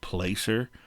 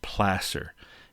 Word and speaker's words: placer: the environment there was placer mining. Now, that looks like it should be pronounced placer, but it's placer. It comes from the same root word as the Spanish word plaza, which basically essentially means